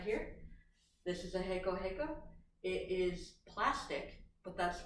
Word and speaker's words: reco-reco: It's not spelled like that, so don't think that it's H, like E-C-O. It's actually R, but in Spanish it's pronounced reco-reco.